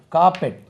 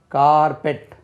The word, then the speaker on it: carpet: 232 காப்பெட், CARPET, காப்பெட், CARPET, காப்பெட். கார்பெட் சொல்லக்கூடாது, காப்பெட், காப்பெட், தரை விரிப்பு.